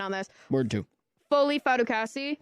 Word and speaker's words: Fatukasi: this word to fif fatukasi is that how you pronounce his last name f fasi yes okay um he visited with